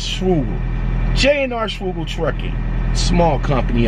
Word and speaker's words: Schugel: Remember before I used to pronounce the name wrong? I used to say Schwagel, but it's Schugel.